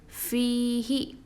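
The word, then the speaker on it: فيه: So we are supposed to pronounce this as fihi with the 2 haraka strengthening it.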